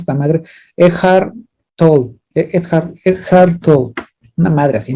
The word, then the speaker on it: Eckhart Tolle: Eckhart Tolle. Eckhart Tolle. Una madre así, No no se sé llama cómo. no se llama Edgar Toll.